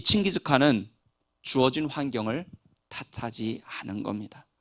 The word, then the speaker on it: 칭기즈칸: 징기스칸. 이건 좀 틀린 발음이라고 해요. 원래는 칭기즈칸이라고 합니다. 칭기즈칸.